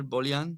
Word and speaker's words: Bolian: I pronounce it well bullion bullion it's perfect it's actually it's like Kardashian it's a Boolean perfect so bullion is